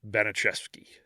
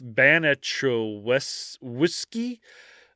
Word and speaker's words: Baniszewski: four different ways so I'm just going to call it beneski so okay it's like it's ban whiskey uh so banet whiskey